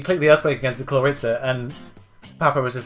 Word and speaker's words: Clawitzer: New York Klinks brought Clawitzer, sorry, the W is not pronounced, Jirachi, Zapdos, Gligar, Blastoise, and Blaziken, while the Magikarps brought Pyroar, Dragonite, Gardevoir, Alakazam, Scolipede, and Mandibuzz.